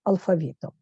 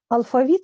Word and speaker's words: алфавіт: Ознайомимося з українським алфавітом. Алфавіт слово має два наголоси правильних алфавіт і алфавіт.